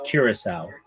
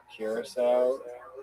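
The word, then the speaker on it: Curaçao: It's Curacao. Curacao, right?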